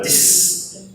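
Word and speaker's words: dix: Então vamos começar pelos dois que tem a mesma pronúncia, que é o dis e o cis. Então vocês estão ouvindo a letra S pronunciada dis, cis, né?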